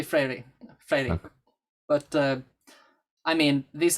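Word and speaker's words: Freire: below the translation the the pronunciation is freddy or freiry really yeah it's got it's kind of weird for us so we're not used to i guess portuguese but uh it's probably mostly mostly frairy flailing but i mean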